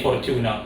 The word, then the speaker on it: Fortuna: f o r f-o-r-t-u-r-t-u-n-a so for tuna or for tuna i'm gonna say for tuna in terms of pronunciation um a good while